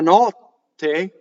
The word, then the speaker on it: notte: Notte, double T. How do I do it? I go up to the T. I don't say it. Notte.